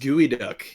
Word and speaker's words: geoduck: 140 years oh right it's pronounced gooey duck yeah PRC gooey duck that's not how English